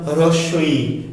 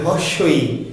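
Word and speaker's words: হ্রস্ব ই: তো দেখো তোমরা নিশ্চয় যারা অনেকে এমনি এইটুকু অন্তত জানো যে এটার নাম হ্রস্বই, অনেকে আমরা বলি হর্ষই। হ্যাঁ, হর্ষই, কিন্তু এটা আসলে হ্রস্ব, হয়ে রফলা, হর্ষই।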